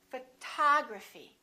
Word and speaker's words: photography: about this one we stress the second syllable we say photography this o also is reduced and also becomes this symbol uh photography photography repeat after